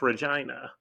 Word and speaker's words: Regina: spelled the same way Regina but it's it's pronounced Regina and they were a customer of mine customer